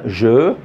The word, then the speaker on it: jeux: Jeux, les jeux. Très bien. Donc EUX. X, c'est une lettre muette. C'est une lettre muette, c'est-à-dire on l'écrit, mais on ne la prononce pas.